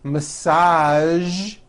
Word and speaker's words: massage: television very good now there are only a few words that have the voiced z sound at the end a few of these words are the color beige the word massage and the word Prestige okay now that you